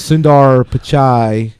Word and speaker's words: Sundar Pichai: Google's Sundar Pichai, I mispronounced.